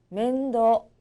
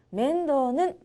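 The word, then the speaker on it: 面倒: 뜻입니다 가사라고도 하죠 즈기 멘도 멘도 돌봄 보살핌이란 뜻인데요 요거는 발음 조심해 주세요 뒤에 장음 있니다 즐거운 한자 시간 오늘도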